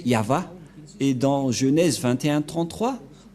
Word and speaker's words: Yahvah: placé au milieu c'est l'alphabet hébreu qui est prononcé yava et dans Genèse 21 33 ou bchit on